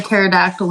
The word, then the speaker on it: pterodactyl: Why can't you hear a pterodactyl in the bathroom? Why? Because the P is silent.